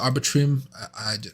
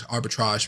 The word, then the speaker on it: Arbitrum: Arbitrum. I suck at my R's, as you guys know. Arbitrum. Yeah, that's what arbitrage.